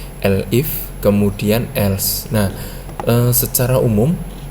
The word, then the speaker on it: elif: Jadi ada blok if, elif ya bacanya, bukan elif tapi elif, kemudian else.